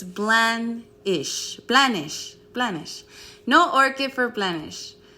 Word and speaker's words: Blandish: Blanchett. Blandish. Blanchett. It's not Blanchett. Blanchett's the one from the Golden Girls, right? No. Blanche. Oh, okay. It's Blandish.